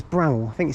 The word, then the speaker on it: Bramhall: No, it's Bramhall. I think you say Bramhall. I think that's how you say it. You don't put emphasis on the H.